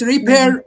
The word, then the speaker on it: repair: Although although the stress lies on the second syllable is it repair or repair repair the stress lies on the second syllable.